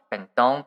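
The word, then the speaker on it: 弁当: Bentong, but in Japanese we say bento.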